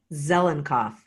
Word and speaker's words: Zelinkoff: Zelinkoff.